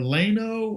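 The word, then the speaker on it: Llano: was going to say the double l has always been pronounced as a y as far as I know so yah yah know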